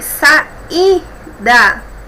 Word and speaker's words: saída: Temos aqui saída, I, sílaba mais forte, temos o hiato aqui,